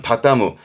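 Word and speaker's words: 畳む: 발음은 다따무. 이게 다따무입니다.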